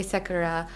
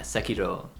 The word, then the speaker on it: Sekiro: I was going to say Sekira, but I know that's not right. Sakura. Yes. Yeah, Sekiro.